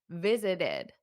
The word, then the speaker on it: visited: happens visited visited visited so you add that extra syllable that's because the word visit ends in a t if the word ends in a t or a d for example need need needed want wanted so if it ends in a d or a t you add an extra syllable only for those two they end in a